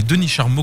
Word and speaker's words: Denis Charmot: Et donc il suffit d'aller sur le mur de Denis Charmeau pour vous de l'autre côté. Vous tapez Denis Charmeau, comme ça se prononce, c'est H-A-R-M-O-T.